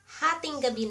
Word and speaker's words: hatinggabi: And if you wanna say "It's already 12 midnight," Hatinggabi na. Ha ting ga bi na "It's already 12 midnight," or you can say, "12 midnight na."